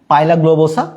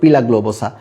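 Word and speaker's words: Pila globosa: পাইলা গ্লোবোসা, বা তুমি উচ্চারণ করতে পারো পিলা গ্লোবোসা, বাট যেটাই উচ্চারণ করো না কেন যাতে ভুল না যায়।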